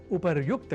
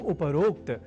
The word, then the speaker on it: उपर्युक्त: अर्थात उपरोक्त के स्थान पर उपर्युक्त कहा और लिखा जाना शुद्ध है। यह हमें अवश्य स्मरण रखना चाहिए। तो उपर्युक्त इस शब्द से बने वाक्यों के अभ्यास से हम उपरोक्त इस अशुद्ध उच्चारण और लेखन से स्वयं को दूर रख सकेंगे।